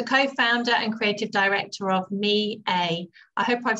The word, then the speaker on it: Miei: year so tell me a little bit about me a thank you so much for having me sean and you did definitely pronounce me a correctly and um it's it means my in